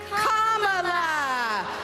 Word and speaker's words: Kamala: Like la la la la la. Put it together and it's 1, 2, 3, Kamala.